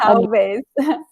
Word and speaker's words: talvez: The only detail that I noticed is the talvez because of the L. This L is a lot. Sim. It's a hard part for everyone. Sim. Yes, talvez.